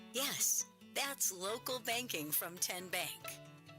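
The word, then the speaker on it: TN Bank: How do you say the name? Ken Bank. Nope. Kin bank. Uh-uh. So, what is it? 10 bank. 10 as in Tennessee.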